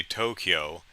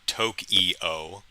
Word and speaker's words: Tokyo: i try you know i try and say tokyo not toke eo you know and yakuza